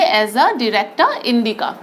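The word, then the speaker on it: Azadirachta indica: ठीक है, नीम का क्या नाम है, जो बॉटनिकल नेम है एजा डिरेक्टा, इस तरीके से प्रोनाउंस कीजिए, एजा डिरेक्टा इंडिका।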